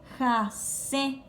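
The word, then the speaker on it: hasẽ: Y en guaraní llora se dice jase. ¿Cómo se dice? Jase, con acento nasal.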